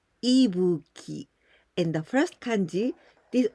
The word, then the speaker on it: Ibuki: going to explain you about these candies we pronounce ebuki in the first kanji did only this one